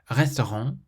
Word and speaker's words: restaurant: Your throat still closes and the sound has to come out through your nose.